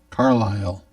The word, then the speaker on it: Carlisle: carlisle c-a-r-l-i-l-e carlisle incorrect it has a silent s it ends with i s l e back bivac can you